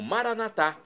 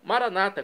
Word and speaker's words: Maranatá: E agora eu clamo Maranatá, do dialeto de Jesus, o aramaico, como nós pronunciamos nós católicos, ou então maranata, como dizem nossos irmãos das comunidades evangélicas ou protestantes, Maranata, eles dizem.